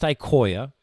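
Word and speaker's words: IQOYA: It's pronounced Ikoya, so we have a Koya Crosslink and a Koya ServLink.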